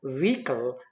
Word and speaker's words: vehicle: letters in it and v-h-i-c-l-e is vehicle not vehicle this is kangaroo not